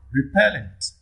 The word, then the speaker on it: repellent: question 42 question 42 repellent repellent where does the primary stress fall here on the second syllable pen on the second